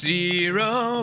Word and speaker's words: gyro: Although it's technically pronounced zero, but I'm still going to call it a gyro.